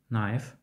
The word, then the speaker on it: knife: Літера K не вимовляється у сполученні KN. Not. Knife.